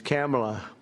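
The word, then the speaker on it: Kamla: It's cam, right? Cam as opposed to calm.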